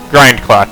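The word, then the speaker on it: Grindclock: It's Grind Clock. Is it Grinding Clock? How do you spell it? Grinding Clock. I'm never gonna spell this. MTG. It is Grind Clock.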